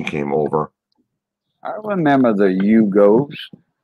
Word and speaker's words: Yugo: I remember the Yugos. That's a double syllable, two syllable word for you go, boy.